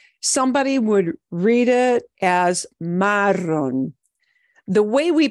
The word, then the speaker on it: marrón: need to know is when you see an accent mark, you know that last syllable gets a harder punch with your voice. So it is marrón, marrón, not marrón. If I didn't write an